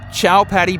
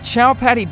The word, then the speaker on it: Chowpatty: their beaches are at chowpatty beach it even sounds dirty doesn't it maybe because it rhymes with cow patty you can look out